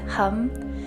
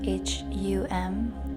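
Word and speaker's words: Ham: the throat chakra is hum it's spelled h-a-m but pronounced h-u-m chanting this Mantra activates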